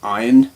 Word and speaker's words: AYN: hello this is the a YN or iron as I've heard it pronounced but I'm going to call it a YN Odin 2 Pro it